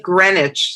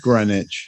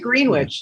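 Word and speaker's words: Greenwich: homage to Jimmy Jam and Terry Lewis we pronounce it grenwich so clearly we don't know anything we pronounce it grenwich Oh I thought you said green witch you I don't say green witch where I'm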